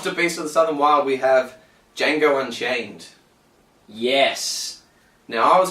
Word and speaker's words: Django: southern wild we have django unchained yes now i was quite confident in django unchained chances but then i thought the voters while filling out their ballots might forget that the d is silent and any votes that